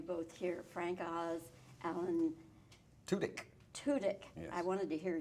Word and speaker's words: Tudyk: You know, I have learned through the years, don't ask somebody else how he pronounces his name, ask him. Tudyk.